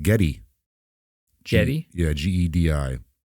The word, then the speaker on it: Gedi: Yeah, Gedi. Or it's sometimes pronounced, or it's not pronounced, spelled Gede. That's what we're doing it on this week, Gedi. Oh, Gede. Gde or Gedi.